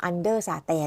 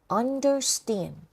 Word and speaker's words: understand: เข้า ใจ นะ คะ จะ ไม่ ออก เสียง ว่า und SAT อย่าง งี้ นะ understand understand คุณ อยาก ได้